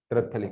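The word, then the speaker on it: terephthalic: और बेंजीन के जब पैरा पैरा पे COH तो इसको टेरिथैथेलिक एसिड बोलते हैं। पी नहीं आता है ना शुरू में। इसमें पी नहीं आता। इसमें पी आता है। टेररथैलिक एसिड। पैरा पेocलिक एसिड बोलते हैं।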